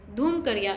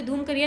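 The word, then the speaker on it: धुमकुड़िया: धूमकरिया। यहाँ पे धूमकरिया नहीं होगा, ये एक्चुअली होगा धूमकोरिया।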